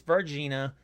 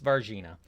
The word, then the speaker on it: Varginha: new, way newer than the last one, in Varginha, Brazil. It's Varginha. I looked it up, figured out how to pronounce it. It's Varginha.